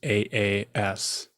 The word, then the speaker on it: Aas: It was AAS, not ASS. It was AAS. So always that last name at the top of every list because it's a double A name, pronounced like Austin.